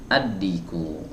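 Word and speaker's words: الديك: teman-teman aldigo atau addiku jawabnya addiku tidak dibaca berikutnya yang ini mana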